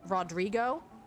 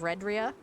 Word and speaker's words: Redria: I feel like mine's not as fun, but also Pixel Chat often just calls me Rodrigo instead of Redria.